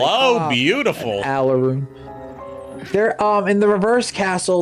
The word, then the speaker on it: Alraune: Oh, yeah, the Alarunes. Alraune is how you pronounce it. It's a German word.